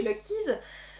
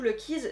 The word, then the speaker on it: Lucky: Bref, nous ne sommes pas chez Gallison ici, nous sommes chez Lucky's. D'ailleurs, c'est pas du tout Lucky's, c'est Lucky. Vous enlevez le S que j'ai prononcé.